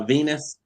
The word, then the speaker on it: V3NUS: yeah, Venus. I heard that name. Yeah, her name is spelled V3NUS.